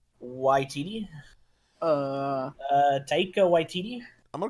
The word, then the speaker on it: Waititi: Waititi.